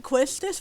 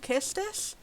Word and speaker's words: Quistis: like i pronounced it quistis whenever it plays the kids i just assumed it was pronounced how it was spelled but i've heard people say it should be called kistis questus i'll call it